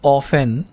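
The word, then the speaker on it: often: अब आप यहाँ पर देखेंगे टी, ये टी आ रही है ना, लेकिन इस टी को प्रोनाउंस नहीं किया जाता, ठीक है, इसको पढ़ा नहीं जाता।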